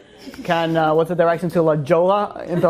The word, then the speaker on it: Jolla: Jolla. But it's not silent. It's Spanish.